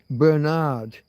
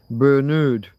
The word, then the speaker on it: Bernard: Bernard Kribons, folks. Bernard, if you're of an American's persuasion, Bernard. It's an It's spelled just like your one but pronounced different.